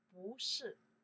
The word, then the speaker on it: 不是: We say second tones. We say 不是 .